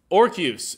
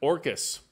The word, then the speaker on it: Orcus: Now, we also, Orcus is how it's pronounced. Orcus.